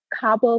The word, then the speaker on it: Kaabo: The PayPal account is at Cabo Clay, and Cabo is spelled Kaabo and then CLAY, and that's a PayPal account that you can just um, donate directly to.